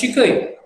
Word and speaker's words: shikai: Shikoi, actually it is used as shikai.